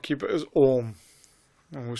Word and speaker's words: Om: If you spell it, even if you spell it in English, A-U-M, Om, 3 things. So Om is made up of three letters: Akar, Ukar, Mukar.